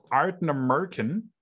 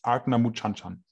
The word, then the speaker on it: Ardnamurchan: Für die korrekte Aussprache bitte das Video anschauen. Das ist natürlich nicht richtig, wie Leon das sagt. Genau. Die richtige Aussprache laut Paddy ist Ardna Muchanchan.